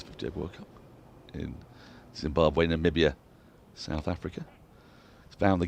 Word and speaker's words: Namibia: took place partly in Namibia. Spoke to some commentators who said great time in Vinduk. Really liked it. The capital of I say Namibia. Alex Hartley pronounces it Nambia to rhyme with Gambia.